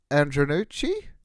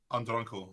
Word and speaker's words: Andronkel: Andreas, is it Andronucci? Andronkel. He's from Cyprus.